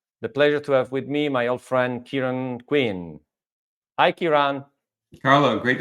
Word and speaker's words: Ciaran: Do I ever say your name properly? I never know. Just anybody, unless they're Irish, say my name properly. You are very, very close, and sometimes you very get close.